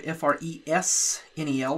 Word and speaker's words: Fresnel: for a fresnel node fresnel that's a French word where the S is silent we're going to plug